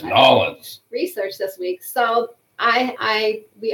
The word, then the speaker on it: New Orleans: I'm going to say it right. It's Nolans.